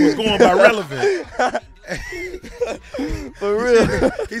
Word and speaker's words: Rel$: on the end yeah the dollar sign is silent you got a new